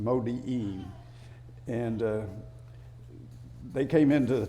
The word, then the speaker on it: Modi'in: But that's the way I think it's pronounced, Modi'in.